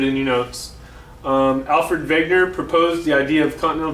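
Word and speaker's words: Wegener: continental drift and yes it's alfred wegner not wagner you'll hear some people on some videos that i have posted for you call him wagner because there's a w here but he's german and in german there's no w sound the w makes a v sound in german his name is alfred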